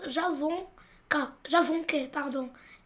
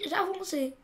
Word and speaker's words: avançais: Ici, on a AI et comme on a A, on doit ajouter la CDI pour ne pas dire j'avonquais. Et pour forcer la prononciation du son C, j'ajoute une CDI. Et je dis j'avançais.